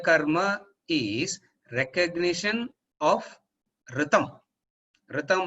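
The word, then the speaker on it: ऋतम्: Ritam means RTAM. RTAM கிடையாது, அதுக்கு மேல அந்த சான்ஸ்கிரிட் இதெல்லாம் போட்டுக்கணும். ஆருக்கு மேல ஒன்னு போடணும், டீக்கு கீழே ஒரு டாட் வைக்கணும். அப்பதான் you will get the actual pronunciation.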